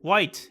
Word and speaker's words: White: becomes corrupt with power the main character's name both rhymes with and can be described by the word bright white and light the main character has